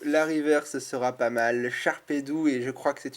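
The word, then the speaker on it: Sharpedo: le Charpedou parce que moi je dis Charpedou, c'est un tic d'enfance, j'ai appris à le prononcer comme ça étant petit, et on n'arrête pas de me dire qu'il faut dire Charpedo, je suis d'accord, mais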